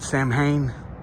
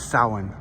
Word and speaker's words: Samhain: some people pronounce it samhain but the celtic pronunciation is sahan um and that is